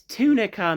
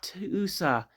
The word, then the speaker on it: Tunica: I pronounce it right. It's Tunica, Mississippi, not Toosa.